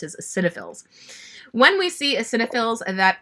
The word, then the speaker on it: eosinophils: white blood cells, one of them is called eosinophils. You might not know how to pronounce it, but that's the way it's spelled, but that is how it's pronounced, is eosinophils.